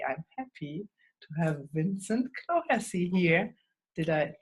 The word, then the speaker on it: Clohessy: And today I'm happy to have Vincent Clohessy here. Did I pronounce that right?